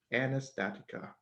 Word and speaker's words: Anastatica: soul member of a musical project known as anastatica did that pronounce that right yep you did great so